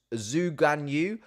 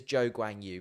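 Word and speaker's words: Zhou Guanyu: can pronounce his name you will hear Zoo granu quite a lot or the Zhou Grand shoe which is not his name um it is Joe gwang Yu but there we are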